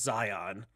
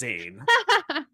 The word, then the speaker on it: Zayn: was a guy who i thought his name was zion but actually his name is zayn um because it spelled like z-a-y-n yeah that was about